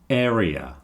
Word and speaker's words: area: Idea, area. Okay, those final two sound a little bit different, but that's only because I'm moving the stress. Area has the first syllable emphasized.